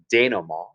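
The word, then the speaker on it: dénouement: diagram is our denom it's a french word notice we don't pronounce the t at the end denom and the daniel maw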